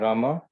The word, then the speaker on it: rama: hare krishna pronounced krishna and rama rhymes with drama are sanskrit words hari